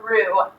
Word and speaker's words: roux: make what's called a roux. A roux is spelled R-O-U-X, and it's the base for a lot of different sauces that you'll make when you cook.